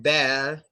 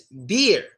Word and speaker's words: beer: It's not bear. It's beer. Two E's typically make the E sound.